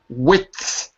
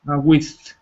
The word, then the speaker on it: width: With. Okay. With. Careful, you got to put the D in there. Width. With. Not with, because that's like saying con, With. like chili con carne. But this is width.